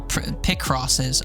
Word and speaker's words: Picross: Plural Picrosses. Oh my. Listen to the pronunciation on Pronounce Kiwi.